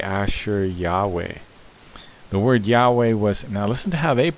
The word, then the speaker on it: Yahweh: pronounced that yah we with an emphasis on the we stress is given on the we yah we which I